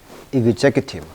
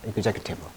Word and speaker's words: executive: EX 발음이 강세에 따라 달라져요. execute, executive. 강세 빨간색 해놨습니다. executive.